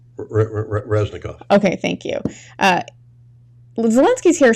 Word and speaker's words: Reznikov: head of one of his weapons defense minister, Reznikov? Reznikov.